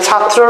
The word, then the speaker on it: ছাত্র: ছাত্র হ্যা ছাত্র তাহলে ছাত্রর উচ্চারণ কি হবে ছাত্র ঠিক আছে ত নিচে হসন্ত হবে তারপরে তফালা হবে তফলা ছাত্র এটা কিন্তু আমাদের আসতে